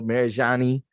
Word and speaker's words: Marajonni: introducer it's it's my it's my home girl mary johnny yeah johnny tsunami you know what i'm saying